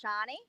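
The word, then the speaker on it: Sharni: There is actually also a silent R in my name, so it's not Shani, it's Shani.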